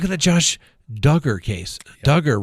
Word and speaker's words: Duggar: the josh duggar case duggar rhymes with hugger right i mean the